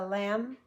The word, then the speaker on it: lamb: B the bomb burst sometimes it's silent the X means within a sentence there may be a b but it makes no sound no sound if it's a green one so the bomb no sound burst the lamb no sound can climb no sound when I read a